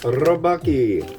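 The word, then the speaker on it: Rabokki: This is Rapokki, also known as Rapokki, which I like to say and have been told by a Korean dentist that I am saying it correctly.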